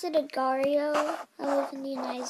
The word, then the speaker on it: Agar.io: Some people pronounce it Agario. I pronounce it Agario.